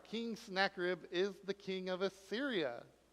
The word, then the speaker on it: Sennacherib: Sennacherib? Sennacherib? Sennacherib? Okay, I was very close. Sennacherib. Who is King Sennacherib? Nobody? Have you heard of him before? No? Really? All right, King Sennacherib is the king of Assyria in Nineveh, and